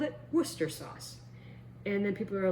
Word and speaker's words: Worcester: And they all pronounce it Worcester.